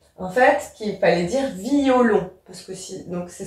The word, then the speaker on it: violon: j'ai bien mis en fait qu'il fallait dire violon parce que si donc c'est ce qu'on appelait à diérèse ici pareil je dois prononcer mon e blesse mon cœur blessé mon